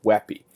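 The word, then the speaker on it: WebP: wet be it's W EBP but it's actually pronounced webby and there are other formats there's OGG OGG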